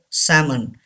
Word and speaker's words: salmon: the first word is salmon say this word salmon and is silent here salmon is the fish name salmon